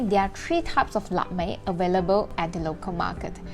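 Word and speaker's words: 腊味: The most significant dish for the Cantonese is lap mei, cured meat or the preserved meat. In Mandarin, it is read as la wei.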